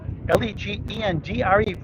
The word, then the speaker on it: Legendre: So Mike Legendre, Legendre, pronounced Legendre. And Craig Beaudry.